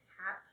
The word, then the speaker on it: Hape: I think you pronounce it HAP. HAPE is a brand Okay.